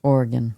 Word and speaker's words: Oregon: Oregon shopper finds nearly a pound of marijuana in a bin at where you at bin discount.